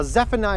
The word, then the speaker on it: Zephaniah: yeah just like that he's got three syllables three chops ready Zephaniah yeah the Hagee